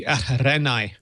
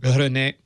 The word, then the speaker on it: René: Yeah, where I was born in South Africa, it'd be Renai. Renai. Renai. Tell me the Quebecois pronunciation again. René.